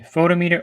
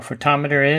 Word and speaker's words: photometer: And if you're curious about how to pronounce it, it's pronounced differently by region. You can call it a photometer or photometer, depending on what area of the world you're actually in.